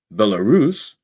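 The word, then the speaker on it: Belarus: Now, I had to say I I pronounced earlier I had in practice I pronounced Bellarus like I would pronounce Wallerus. I said Bellarus and and I and I couldn't fix it in my head. Took me a while and I had to sound it out.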